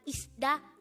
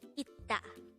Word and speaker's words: 있다: So, this is not isda, but it is itta.